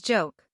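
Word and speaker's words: โจ๊ก: our number Eighth is joke this isn't a joke but they really pronounce it as joke joke is the Thai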